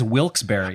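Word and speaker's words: Wilkes-Barre: But I do believe it is Wilsbury.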